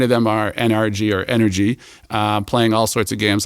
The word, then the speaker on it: NRG: The brand's NRG or Energy. Everyone pronounces it NRG, which drives me crazy.